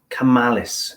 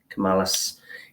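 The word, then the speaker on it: Camillus: Which is a World War II American pocket knife by a company called Camallus, if I'm pronouncing that right. That's C-A-M-I-L-L-U-S. Camallus.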